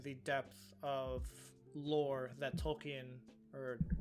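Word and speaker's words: Tolkien: viewers like understanding the depth of lore that tolken or it's actually pronounced tolken um wrote over the course of his life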